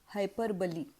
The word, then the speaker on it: hyperbole: आहे त्याला म्हणतात हायपरबली आता याचा स्पेलिंग जरी एच वाय पी आर बी ओ एल हायपरबोल किंवा तत्सम असेल तरी सुद्धा त्याचा उच्चार चार हायपरबली असाच होतो सो हायपरबली फिगर ऑफ